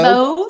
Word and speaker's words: mauve: Mauve. Stove, Grove, and Cove.